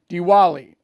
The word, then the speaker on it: Diwali: the wall that's a that's a Hindu celebration Diwali okay so uh that's what he does today